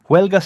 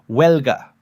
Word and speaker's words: huelga: Your turn, and mine the silent H. Huelga starts with a W sound. Huelga. Están en huelga. That silent H is everywhere, by the way. Hola, hoy, huelga. Spanish writes the H and then completely ignores it.